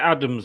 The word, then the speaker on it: Adams: You definitely pronounce it Adams, mate.